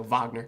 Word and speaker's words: Wagner: name is pronounced or it's spelled wagner with a w but it's pronounced with a v so wagner i think i'm not